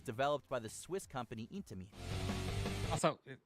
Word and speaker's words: Intamin: popular brethren, was developed by the Swiss company Intamin. Also, it's Intamin. The fuck did he say? Many of its most popular brethren was developed by the Swiss company Intamin. It's Intamin. Intamin. Yo, Lime, what's up? Intamin.